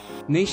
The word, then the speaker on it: niche: aloud to alexa niche is pronounced niche not niche i'm fine with pretty